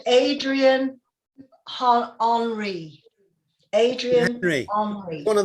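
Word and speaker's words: Henri: Oh, well, I thought because it's spelt like Henry, I thought maybe that's how you pronounced it, Adrian Henry.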